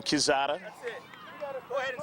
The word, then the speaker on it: Quezada: Got a new pronunciation for Jeffrey, and it's Quezada rather than Quezada.